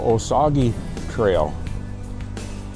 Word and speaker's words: Osaugie: Yeah, so Osage Trail. I think I've got that pronunciation about right. I looked this up.